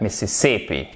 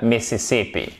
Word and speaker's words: Mississippi: Non, on dira the Mississippi. Ok? The Mississippi. Et vous faites bien attention. Mississippi. Ok? Mississippi. Mississippi. Non. Mississippi. Mississippi. Et oui, accent tonique ici.